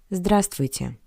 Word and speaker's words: Здравствуйте: The bold letter V is not pronounced. Здравствуйте.